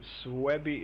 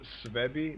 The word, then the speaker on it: Suebi: And the correct pronunciation of Suebi is Suebi, not Suebi, like everybody says, just informing.